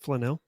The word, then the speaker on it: Flanell: Or is it Flannel? Flanell. I didn't know that. Huh. She pronounces it Flanell.